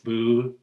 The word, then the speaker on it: Bubelis: Rhymes with trellis. So it's Bubelis.